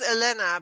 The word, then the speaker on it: Helena: it's always Elena because the H is silent in Spanish.